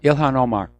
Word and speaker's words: Ilhan Omar: That lady congressman, how do you pronounce her name? Ilhan Omar? Yeah, Ilhan Omar.